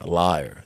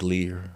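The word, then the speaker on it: Lier: there's a Belgian there's a Belgian town called liar where it might pronounce like Lear I'm not really sure but it's the same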